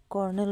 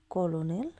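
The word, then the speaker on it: colonel: করতে বলেছে কর্নেল বানানটা কর্নেল বানান হবে সি ও এল ও এন ই এল কলোনেল কিন্তু উচ্চারণ হবে কর্নেল পরবর্তী প্রশ্ন হু ইজ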